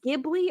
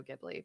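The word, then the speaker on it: Ghibli: feels so wrong and so I say I say Studio gibl because it just it feels it feels softer that's how I say it too because I don't see I I believe it's spelled g GH right right right gibly right so to me if I see GH together I don't think J right I think of a softer yeah g yeah exact that so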